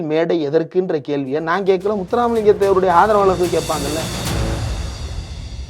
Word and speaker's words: முத்துராமலிங்கம்: சரி திருப்பரங்குன்றமாவது கஷ்டமான வார்த்தை முத இது ஏதாவது புரியுதா முத்துராமலிங்க தேவர் இது வந்து நவுன் இதை உச்சரிக்க தெரியணும்ல முத்து common name. Ram common name லிங்கம் காமன் நேம் முத்துராம் லிங்கம்னாவது சொல்லிருக்கலாம் முத்துராம் முடியல மித்ரோன் மாதிரி இருக்குது முத்துராம் அப்படின்றது முத்துராமலிங்கம்ன்ற வார்த்தையே சொல்ல தெரியாத